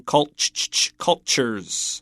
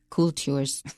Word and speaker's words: cultures: as mentioned in persia don't mess up that pronunciation cultures not cool tours next some people trace